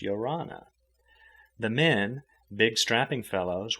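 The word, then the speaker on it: ia ora na: In 2s and 3s and groups they strayed along, shaking hands and uttering the Tahitian word of greeting, Yorana, pronounced Yorana.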